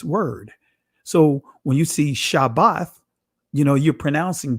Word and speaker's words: Shabbat: it Shah bath because that is the ancient pronunciation of this word again not shab not Shabbat well not Sabbath is shabath all right but anyway